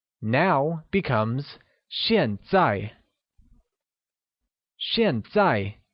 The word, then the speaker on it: 现在: 现在 uses a falling tone on both A's. Remember that X carries a sh sound in Mandarin. Can you try saying 现在?